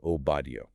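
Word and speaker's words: Obadyo: But in the northern kingdom of Israel, their dialect shortened that suffix to simply yo. Okay, so it would be Obadiah. Exactly. So the name would be pronounced as spelled Obadio.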